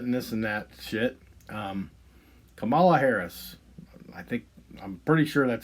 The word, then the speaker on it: Kamala: Kamala Harris, I'm pretty sure that's how you pronounce her name.